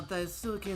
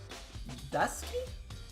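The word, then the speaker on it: 大好き: It pronounces Dusky? Daisuki. Well, if that's how you pronounce it, why didn't you spell it phonetically?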